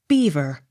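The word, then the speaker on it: Belvoir: l e r c beaucler accent on first syllable b e l v o i r beaver b e r k e l y barkley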